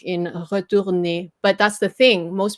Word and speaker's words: retourner: Retourner, which is why you have to say the last syllable. This is 3 syllable.